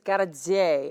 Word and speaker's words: Hardzei: I mean, my husband's name is Gardezei, and it's spelled Hardzei.